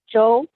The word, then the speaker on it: Zhou: And while we're waiting, how do you pronounce that last name? Joe, Joe?